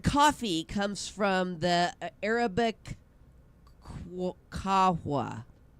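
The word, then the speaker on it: قهوة: The word coffee comes from the Arabic kahwa.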